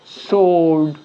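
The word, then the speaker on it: sword: একইভাবে ডাব্লিউ এখানে আমরা দেখছি যে নীরব রয়েছে বা চুপ রয়েছে, সুতরাং এটাকে বাদ দিয়ে আমরা উচ্চারিত করব অ্যান্সার, সোল্ড, এখানে রাইট, এখানে রং, ডাব্লিউটা এখানে সাইলেন্ট থাকবে।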